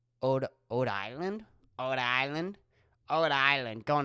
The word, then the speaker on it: Rhode Island: No, you wouldn't pronounce the R. So it'd be Ode Island?